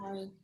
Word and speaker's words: Murray: Murray. It's Murray. Okay. Hi, Murray. Rhymes with calamari.